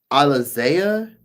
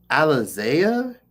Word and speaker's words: Alisea: Alisea. Alisea. Like Alise like like the like the the little the little champagne that people used to drink back in the 90s.